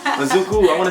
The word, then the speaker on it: Izuku: I keep saying Izuki. Izuku.